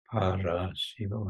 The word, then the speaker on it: paraśibo: And in the Bengali, they drop the first S and then they add a syllable. So paraśibo instead of sparshibo.